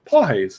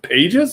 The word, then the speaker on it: Pages: him how do you how did he say his name and he's like he spelled up you know paul hayes and i was like really it's not pages he's like nope uh i'll be damned